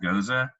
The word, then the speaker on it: Gose: It's Gose. It's pronounced Goza.